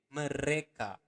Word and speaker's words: mereka: Remember to pronounce the R clearly. Mereka.